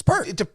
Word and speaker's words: Peart: When Neil Peart was, how do you say it, Peart or Peart? It's Peart. Now it could be it's Peart in like a. Damn it! Have I been saying it wrong all these years? No, I think both are okay.